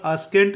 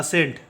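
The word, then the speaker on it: ascent: नहीं करेंगे ठीक है इसका उच्चारण स्केंट नहीं होगा इसका उच्चारण होगा सेंट ठीक है क्योंकि सी क्या है साइलेंट है सस के बाद आया है इसलिए सी क्या है साइलेंट है इसका उच्चारण करेंगे सेंट बिल्कुल ऐसा लगता है जैसे सी यहां पर है ही नहीं ठीक हैड इसका उच्चारण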